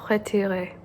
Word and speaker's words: retiré: Battement retiré. Retiré, or retire with an accent on the E, means withdrawn or shortened.